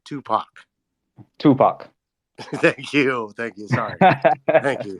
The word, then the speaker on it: Tupac: Tupac.